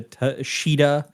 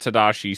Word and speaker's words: Tadashi: take care of that that was about the T sheida and Lilo yeah the Tadashi Tadashi see there we go we had three mistakes three Mistakes One Vince mispronounced Tadashi several times in that episode uh and this